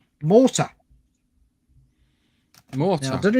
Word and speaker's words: Mortyr: So the first one is a game called Mortar. Mortar. Now, I don't know if you. Yes, I think that's how you pronounce it. It's Mortyr. Mortyr.